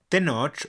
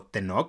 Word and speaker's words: Tenoch: Tenoch o Tenoch, las fuentes difieren en la pronunciación, aparece por primera vez